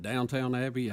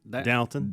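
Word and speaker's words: Downton: you say it dton downt downt Abby it's d o w n t o n down there's just no Town T you're say down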